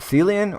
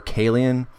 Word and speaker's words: Caelian: of Seeley and Hill I think that's how you say it sealian or Caelian I think it's sealian though one of Rome's Seven